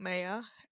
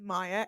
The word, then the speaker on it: Maya: So my name's Maya. Not Maya. People in England mispronounce it. It is Maya. Everyone else is correct.